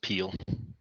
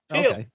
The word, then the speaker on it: P3OL: And from we call it Peel. Peel.